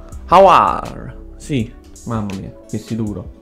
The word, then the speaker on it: Aouar: La pronuncia. Awar.